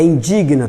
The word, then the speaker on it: indigna: O que me indigna, é indigna ou indigna? É indigna, tá? Todos os verbos terminados em guinar, entende? Então, indigna, impregna.